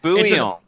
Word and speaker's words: bouillon: It's pronounced like that for you, maybe, but it's French, so it's bouillon.